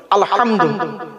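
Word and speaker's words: الحمد: আলহামদুলিল্লাহি রাব্বিল আলামিন আলহামদু এই গলার ভেতর থেকে হেটা উচ্চারণ করবেন আলহামদু আলহামদুলিল্লাহ মানে হচ্ছে সমস্ত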